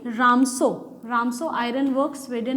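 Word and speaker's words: Ramsjö: की गई है, वो रामसो ही है, ठीक है। देखो यहाँ पे भी जे साइलेंट है, ठीक है, रामसो जे को प्रोनाउंस नहीं करेंगे, रामसो नहीं है, वो रामसो है, ठीक है।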